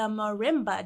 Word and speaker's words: marimba: Can you explain the difference between the vibraphone, the xylophone, and the marimba?